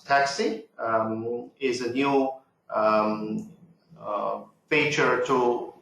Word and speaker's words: TCSI: I feature so obviously TCS I pronounce taxi is a new feature